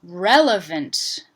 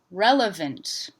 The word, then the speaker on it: relevant: 3 syllables, stress on the first syllable, rel, unstressed vowel sound in the middle, VNT ending. I've just used a syllabified N as the nucleus for this syllable because I don't really hear a vowel sound or even a schwa sound.